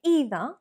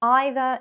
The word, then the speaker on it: either: So you'll find many British people saying either when either is the traditional British pronunciation.